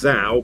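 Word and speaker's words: Zhou: has to be and i pronounce him as zao but i've heard people refer as zong so i don't know if i'm completely saying his name wrong but uh first chinese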